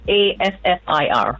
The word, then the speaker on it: kaffir: Kaffir. Yeah. It's a type of Kaffir. Oh, kaffir. It's actually pronounced kaffir, and that's actually comes from Africa.